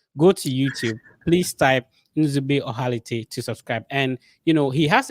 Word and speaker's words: Nzube Ohalete: Can you pronounce the name so that I don't get it? Nzube Ohalete. Okay, Nzube Ohalete.